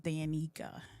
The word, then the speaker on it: Dannika: Like I said, I'm going to just say it once, but I'm going to pronounce it to your audience. go ahead. You do that, please. It's Dannika.